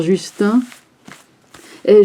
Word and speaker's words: Justin: or comme le cher Justin. Et je dis Justin, je sais que ça se prononce Justine, hein, mais enfin bon,